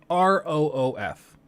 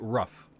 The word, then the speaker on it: roof: like the word like r-o-o-f I know people up north that pronounce it rough that's objectively wrong it's not rough it's roof okay it's two o's makes an ooh sound it's roof I hate